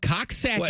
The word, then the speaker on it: Coxsackie: the Hudson River okay in Upstate New York Cox saaki is it like two people that Liv there